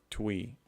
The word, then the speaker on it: Twi: Twi is pronounced like Twi.